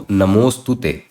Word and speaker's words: namostute: Just pronounce the entire word as if this symbol wasn't even there. So namostute, namostute.